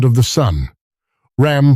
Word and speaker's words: Ram: Ram, pronounced r a a m.